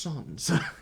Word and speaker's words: Sansa: It's pronounced Sons in that particular show.